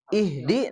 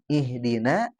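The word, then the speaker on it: اهدِ: Nah, kalau Kang Fajar yang haknya ya ihdi. Nah, haknya hak besar itu ya. Nah, tadi dibaca haknya hak kecil. Harusnya di.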